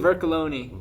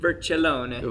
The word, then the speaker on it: Vercollone: Vercollone. Vercollone. And it's Italian, so if you want the Italian accent, Vercollone.